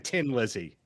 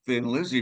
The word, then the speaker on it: Thin Lizzy: it Thin Lizzy because they knew the Irish were going to pronounce it Thin Lizzy, right? So, it was kind of a little inside joke for the for the Irish and all that, but it is thin Lizzy.